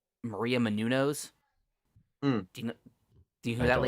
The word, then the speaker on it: Menounos: Maria It's But it- Menounos. But it's pronounced Menounos.